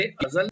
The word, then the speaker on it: अज़ल: थोड़ा सा प्रोनाउंसिएशन का फर्क है, हमने पिछले एपिसोड में बात की थी। अजल जो शब्द है वो मृत्यु के लिए है, मौत के लिए, और अज़ल जो है वो सृष्टि का जो पहला दिन था।